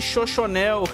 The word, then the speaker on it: Xoshonell: Eita Templo de xoxoneu né seria o correto a pronúncia Agora posso levar mais